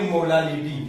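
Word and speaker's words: molality: जैसे पढ़ते हैं मोलारिटी वैसे ये मोलालिटी, उसमें 1 लीटर सॉल्यूशन में इसमें 1 केजी सॉल्वेंट में बोलना पड़ता है, 1 केजी सॉल्वेंट, अंडरस्टूड।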